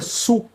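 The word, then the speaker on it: Sioux: SKS, assim, S I O U X. Tem até uma banda chamada SK and the Bches. A gente pronuncia su.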